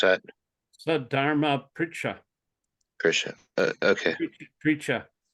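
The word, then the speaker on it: sad-dharma-pṛcchā: Sadharma Pricha. Krishna. Okay. Pricha. R with a dot under it is Ari. It's like Ari, Krishna.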